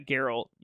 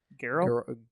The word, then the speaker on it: Geralt: Like, I know they already got Geralt, which is going to be awesome.